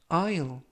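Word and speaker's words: aisle: 좋아한다 라는 뜻이 되겠습니다 이번 표현은 아유 아 유 아 아유 이라고 발음 하시면 되겠고요 이 때 유의하실 점은 알파벳 s 가 이번 단어 에서는 묵음 이라서 발음이 되지 않습니다 그래서 아유 이라고 발음 하시면 되겠구요 품사는 명사 뜻은 극장이나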